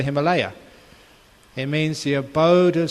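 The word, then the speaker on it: हिमालय: Himalaya is the proper pronunciation of what we call the Himalaya.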